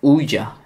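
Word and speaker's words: Ouija: Sonra tanıştıktan sonra artık Uyca diye okunuyor.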